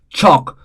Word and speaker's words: chalk: again L is silent chalk again L is silent would again L is silent should again L is silent could again L is silent.